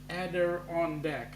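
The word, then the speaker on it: Adirondack: Montreal is called the Adon ader deck pronounced ader on De okay ader de thanks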